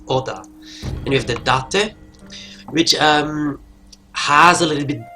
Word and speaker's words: Date: name says it, Masamune Date. So then we have the Takeda. Oh, and for the English speaking, no, it's not date or date, it's Date. Yeah, Japanese pronounce things very different than the English.